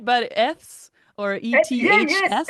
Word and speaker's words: Eths: I don't know if I'm saying it right, but Eths or Yeah, yes, ETHS.